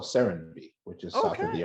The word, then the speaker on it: Semsee: I don't know if I'm pronouncing the company correctly. It's Semsee. So that's correct.